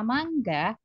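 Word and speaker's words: マンガ: kata mengucapkan kata mangga Mang komik Ya itu bukan manga ya karena di sini ada pengucapan huruf n dalam bahasa Jepang itu dia seperti Ang ya mangga buah mangga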